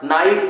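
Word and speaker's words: knife: नो मतलब जानना, नाइफ मतलब चाकू।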